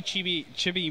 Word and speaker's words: Chibi: Mini Chibi Moon?